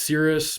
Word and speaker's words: Sirius: were visited by people from, I believe it's pronounced Sirius, but it's a very, very bright star in